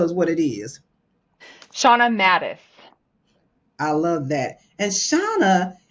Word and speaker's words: Mattes: wave and tell us what it is shaa Mattis I love that and shaa is a sematic